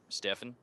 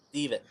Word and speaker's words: Stefan: Stefan? It's pronounced Steven.